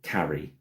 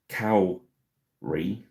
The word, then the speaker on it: Kári: I said is it carry but it's not. So it's from what I've googled it's either cowry cowry or core and I think core is probably sounds right. So it's pronounced like sore core core.